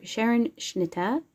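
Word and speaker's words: Scherenschnitte: And then this is paper cutting, or Sharon Schnitta, I believe is how you pronounce it. That's how they pronounce it around here.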